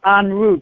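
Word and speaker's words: En Route: unroot books is unroot the way we pronounce it is the French pronunciation unroot but it's only m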